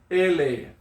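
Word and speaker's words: ʻele: Ele. Okay? E-L-E. Ele. Now, before we continue with that word, there's a little okina before the first E.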